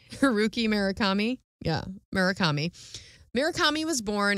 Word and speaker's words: Murakami: he is from Japan so I hope I pronounce his name right all right Haruki murakama is his name he was born January 12 1949. okay so murakama or murakami sorry murakami is that what I said Haruki